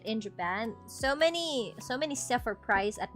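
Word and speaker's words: 万: Okay, so we go now to Mang. So what? Ow. So after 9,000, right? After 9,000, we have 10,000. And we do not say juen.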